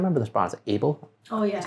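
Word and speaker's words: AYBL: Is it Able?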